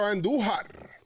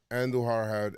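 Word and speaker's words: Andújar: I'm going to go with Miguel Andujar. Roll your R's when you say. Only right. It's only right.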